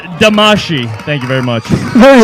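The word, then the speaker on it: Damacy: handsome and it's pronounced damashii thank you very much here we go our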